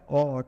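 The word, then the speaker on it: awe: है ए डब्लू ई ए डब्लू इसको उच्चारण करता है आ ठीक है ए डब्लू का ए डब्लू ई इसका उच्चारण करते हैं ओ ठीक है तो इसका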